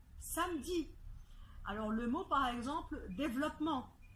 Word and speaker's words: samedi: exemples c'est le mot samedi samedi alors samedi après le m il y a bien eu et pourtant en prenant soin on dit on dit pas ça me dit on dit samedi alors le mot par